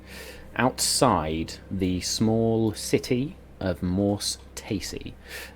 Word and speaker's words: Morse Taesi: And you were teleported, outside the small city of Morse Taesi.